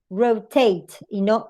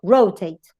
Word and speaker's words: rotate: If you have a strong in the last and a strong in the first, the stress goes in the last, in final syllable. So that's why it is rotate, rotate.